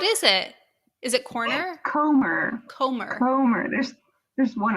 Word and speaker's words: Comer: say that name again for me please jody kormer am i saying it wrong yes what is it is it corner comer homer there's there's one r listen english is